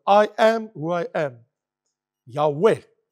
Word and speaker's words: Yahweh: Yahweh it's pronounced Yahweh.